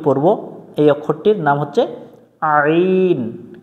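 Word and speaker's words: ع: থেকে কণ্ঠনালীর মাঝখান থেকে একটু চেপে পড়তে হবে আইন আইন আইন হামজা জবর আইন জবর আ এটা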